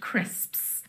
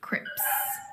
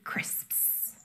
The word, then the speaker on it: crisps: sound at the end crisps you'll find a lot of people mispronouncing them as crips crips when they should be crisps so here is the